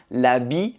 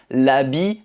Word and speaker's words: l'habit: Donc on ne prononce pas le t. L'habit ne fait pas le moine.